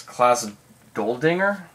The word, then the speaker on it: Klaus Doldinger: Klaus Doldinger? Am I pronouncing that right?